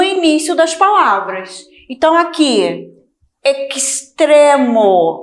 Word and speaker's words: extremo: Assim, extremo. Então, a pronúncia antes de consoante é de KS.